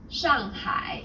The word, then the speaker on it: Shanghai: The pronunciation for the famous city Shanghai is Shanghai. Shanghai. The first syllable here is made of an initial and a final and a fourth falling tone the second syllable is made of an initial H and a final and a third falling then rising tone well done.